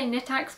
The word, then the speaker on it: Knittax: I'm going to say Knittax because it's easier for me, but I know that it is actually pronounced Knittax in Germany.